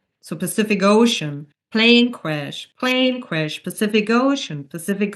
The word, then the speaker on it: Pacific Ocean: And then Pacific Ocean again is a name, and we learned with names we always stress the second word. So Pacific Ocean, plane crash, Pacific Ocean, Pacific Ocean.